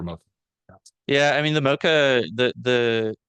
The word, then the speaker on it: MoCA: You hadn't yet mentioned it, and I wondered about, because I actually spoke the language of this group of people, about doing moxa in the clinic, in our own clinics, as a diagnostic approach.